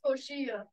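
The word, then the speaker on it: coxinha: the first one is the New York it pronounces koshia it is made with no is it a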